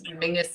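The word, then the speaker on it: Menzies: for any body else Mingus is how weirdly the Scottish people um that's that's how they would pronounce menes I don't understand where the G comes out of it but that's it is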